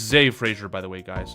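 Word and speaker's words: Zah Frazier: So it's Z Frasier, by the way, guys. It's spelled Z Ah, but it's pronounced Z. Z Frasier.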